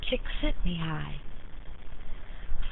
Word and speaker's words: Csikszentmihalyi: Creativity flourishes in periods of flow, a concept proposed by Mihalyi Csikszentmihalyi pronounced �Chick-SENT-me-high� (1988).